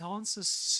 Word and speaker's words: answers: It answers to me. Does he pronounce the what sound? Does he say it one? It wants answers to me or something. No, he doesn't, does he?